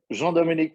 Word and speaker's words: Jean-Dominique: Can you pronounce it correctly for our audience? Jean-Dominique was perfect.